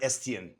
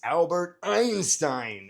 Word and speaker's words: Einstein: Albert Estienne. Close. Very close. Good job. Gang mark, it's Albert Einstein.